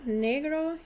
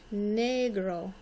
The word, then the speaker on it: negro: Negro is black. You notice the E sounds like a long A sound. Negro. And the O sounds like a long O.